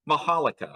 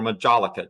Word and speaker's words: majolica: If they're made in Spain, they have a particular style that they're made in, and we call those majolica or majolica, depending on how you pronounce it.